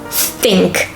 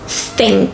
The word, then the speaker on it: think: stop thinking whenever you have a th ief stink think because think means when you swim and you're